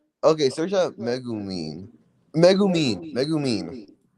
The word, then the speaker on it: Megumin: Megumin. Oh, JJK Modulo. Okay. Not Megumi. Me. I heard Megumi, bro. You You heard Megumi. I said I said Megumin or English, bro.